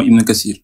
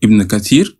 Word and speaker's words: Ibn Kathir: Là là vous venez de dire exactement Ibn Katsir. C'est très bien. Oui mais justement moi Kassir comme vous dites ça s'écrit comment ?